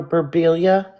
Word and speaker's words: Berbiglia: Another case here that I would love to see solved is Amber Berbilia. It's spelled Berbiglia.